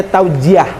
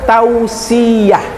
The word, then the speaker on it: tausiah: Nah, tadi ada juga MC mengucapkan tausiah itu dibacanya taujiah. Kan gitu ya? Yang benar adalah tausiah. bukan tauziah. Mohon maaf ya.